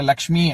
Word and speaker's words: லக்ஷ்மி: படுத்தி எழுதுறது தப்பு இல்லை இப்ப லக்ஷ்மி அப்படின்னா இலக்குமி அப்படின்னு எழுதலாம் ஆனா உச்சரிக்கும் பொழுது சொல்லும் பொழுது அந்த சப்தத்துக்கு தான் மரியாதை அதனால லக்ஷ்மின்னு தான் சொல்லணும் மீனாட்சி காமாட்சி அப்படின்னு தான் சொல்லணுமே